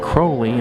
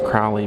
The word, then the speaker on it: Crowley: Now in this case they have a few items owned by Aleister Crowley. A lot of people think it's Crowley because of the way Ozzy Osbourne pronounces it, but they said it's Crowley, so there's a picture of him back there.